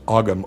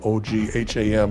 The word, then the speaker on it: Ogham: And it's called Ogham." It's It looks like it's Ogham, O G H A M, but it's actually pronounced Ogham.